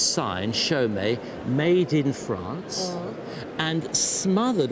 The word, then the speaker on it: Chaumet: looked at it and it says Chaumet. Chaumet, exactly, because Chaumet were a firm of manufacturers making jewellery, particularly very fine pieces in the 30s.